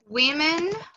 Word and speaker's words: women: Um tem som de U, woman. O outro tem som de I, women.